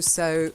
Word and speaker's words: sew: It's exactly the same. Ah, okay. That's to sow seeds. Okay. To sow seeds and to sow clothes.